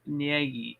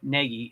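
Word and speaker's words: Gnagy: John Ngi, excuse me. That's with a silent G. Uh, John Negi. Negi, it's G N A G Y, I believe.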